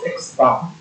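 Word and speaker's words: x̄: fact the formula is x sorry okay we pronounce this as x bar actually statistics rather this would be x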